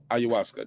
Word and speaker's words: ayahuasca: you um somebody said it's pronounced ayuasuka ayahuasca there you go thanks phillip uh